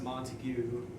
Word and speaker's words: Montague: teacher and she was like okay this is pronounced Montague and this is calculated anyone says I'm robot